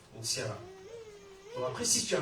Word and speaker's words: N'Siala: Toi, c'est peut-être Toukouré, toi, c'est peut-être Edmond, moi, c'est Ntiala. C'est pas Intiala, c'est pas Ntiala, parce que j'ai pas la N. C'est N apostrophe, Ntiala.